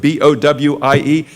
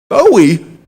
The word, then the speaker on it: Bowie: If you're like me, and I saw on the sign the first time I came here from Pittsburgh, B-O-W-I-E, I thought, Bowie. And then when they said Bowie, I said, really?